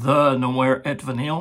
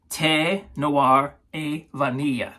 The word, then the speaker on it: Thé Noir et Vanille: It looks like it says, the Noir et Vanille. No, that's not how you say it.